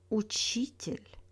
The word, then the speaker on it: учитель: In words with тель, stress falls on the syllable before тель. This one is the most reliable rules in Russian. For example, учитель, строитель, водитель, обстоятельства.